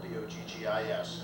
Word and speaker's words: Boggis: The name is Boggis, and it's spelled B-O-G-G-I-S, and it's pronounced Boggis.